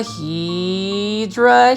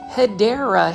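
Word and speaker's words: Hedera: So you can see right here, this is a hedra helix. Say it with me, plant foldies. Hedra helix or the correct way to say it is hideera helix.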